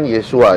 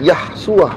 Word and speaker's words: Yeshua: Nah, mereka ini memaksakan untuk bacanya Yahshua, bukan Yeshua. Yahshua. Iya betul. Padahal kalau mau dipaksa ke panjangnya harus Yeshua, bukan Yahshua.